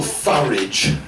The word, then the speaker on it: Farage: And I hope Nigel Farage rhyming with garage, will take it on unless someone happens to shoot him.